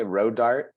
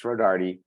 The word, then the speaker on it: Rodarte: But most people they just say Rodarte. So you kind of grow up because they don't pronounce the E because they think it's silent.